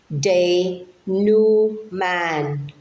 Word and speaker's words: denouement: e m e n t how would you pronounce this word the new Man the new Man the new Man is a